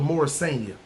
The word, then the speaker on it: Morrisania: more i think it's more senior i think it's more senior if not we're going to pronounce it like a new yorker and we're going to call it morrisania see i'm saying anyway